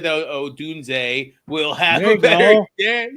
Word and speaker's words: Odunze: Dune. Zay. Odunze. I want to add a D. It, for some reason, just wants to be there. But anyways, you called it. You said that Odunze will have a better game.